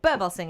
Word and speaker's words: Birbalsingh: Birbalsingh, if I've pronounced your surname right.